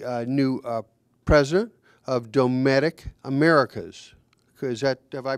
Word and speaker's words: Dometic: Marciano who's the uh new uh president of domic Americas is that have I pronounced that correctly yep absolutely dtic Americas and and uh also Dave sheets uh